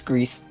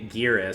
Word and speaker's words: Gris: I'm going to pronounce it wrong because it's a Spanish studio, so it's supposed to pronounce the Spanish way, but I believe it's Greece. Um, I always say Spanish gray. I always say gear for some reason, but there's no e in it.